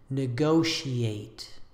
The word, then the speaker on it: negotiate: This final word is usually pronounced with four syllables, ending in the two syllables e and eight, e-eight, e-eight. The whole word is negotiate, negotiate. Avoid combining these last two vowels into a diphthong.